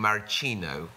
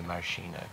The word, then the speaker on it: maraschino: way I was pronouncing maraschino cherries. And how should it be pronounced? I was saying maraschino, which is the Italian way, but he says he would always say maraschino.